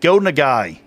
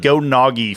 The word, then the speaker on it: Go Nagai: Fucking Devilman creator, I fucked his name. Go Nagai. I called it Go Nagi forever.